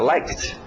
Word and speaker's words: liked: Às vezes é só o som de um T, como like, fica liked.